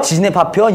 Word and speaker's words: 지진의 파편: 발음 주의 지린내 아니고요. 지진의 파편.